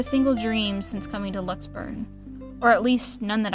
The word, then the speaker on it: Luxembourg: pause right there cuz we've said it wrong every single time because it's not like Luxembourg right it's Lux burn let's burn lux burn all right I haven't